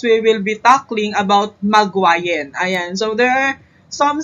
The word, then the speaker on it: Magwayen: So, and this video is, we will be tackling about Magwayan. Ayan. So, there are some spellings na ma-encounter tayo, pero same pronunciation pa rin at siya ay si Magwayan.